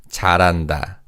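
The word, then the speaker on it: 잘한다: Now in terms of pronunciation because of the connective speech the bachim in carries over to the second syllable. So this is read as charanda.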